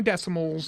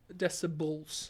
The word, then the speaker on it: decibels: We're not moving on until you say it right. Decibels. Moles. Decibels. Moles. I'll even take Are you smoking? bulls. Oh my gosh. Are you smoking? It's decibels. Decimals.